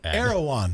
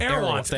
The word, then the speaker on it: Erewhon: Most expensive Yeah, it's like E R E W Erewhon. Erewhon. I'm just I'm just like, "What is this?" So, Erewhon It sounds like a weird race of elves